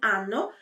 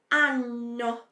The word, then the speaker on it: anno: que você entenda que quando tem essas duas consoantes, a pronúncia é um pouquinho mais demorada. Então, eu não digo anno, mas eu digo anno. Anno. É um pouquinho mais demorado, tá bom?